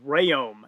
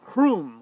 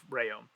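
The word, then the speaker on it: Rhéaume: you know everybody else there right so gabriel rayom that is how you pronounce his last name brian shaw actually had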